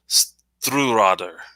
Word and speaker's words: Stiuireadair: And this one is the Bunnahabhain Stiuireadair.